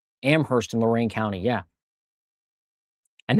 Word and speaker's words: Amherst: Amherst in Lorain County, yeah.